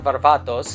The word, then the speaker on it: Varvatos: stay tuned so John Varvatos or John Varvatos as I would like to pronounce because I am Greek and I am from